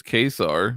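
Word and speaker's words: Ka-Zar: At least Marvel told you how to pronounce Kazar as Kesar or something like that. I always say Kazar.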